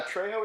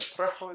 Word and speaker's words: Trejo: Yeah, Trejo is fine, like Trejo is fine. Either one is great.